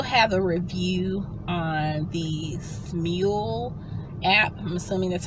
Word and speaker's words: Smule: But I also have a review on the Smule app. I'm assuming that's how it's pronounced, S-M-U-L-E.